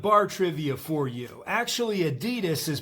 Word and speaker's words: Adidas: Actually Adidas is pronounced Adidas.